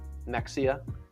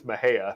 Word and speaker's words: Mexia: i called it uh mexia and they said jake it's my hair kind of like my hair although you don't have much hair i i i think the correct the correct pronunciation is mahea it is my hair